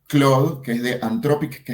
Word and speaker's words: Claude: Claude, creo que pronuncia Cloud, que es de Antropic, que es con TH 3.5 o 3.7.